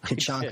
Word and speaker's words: Kachanka: You did not. You nailed it. Kachanka is my last name.